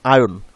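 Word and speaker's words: iron: সো আমরা normally এটাকে আয়রন বলি, বাট নর্মালি এটার উচ্চারণ হবে আয়ন, আরটা উচ্চারণ হবে না।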